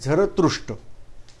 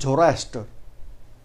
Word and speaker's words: Zarathustra: I am revising name, named as Zarathustra. But this Zarathustra word was not pronounced properly by Britishers. They are calling them as Zoroaster.